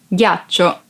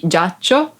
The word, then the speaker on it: ghiaccio: Ghiaccio. Ice. Ghiaccio. Ice. Be careful because if you don't pronounce G as a hard sound like G, it would be giaccio, that it's a verb and means lie down.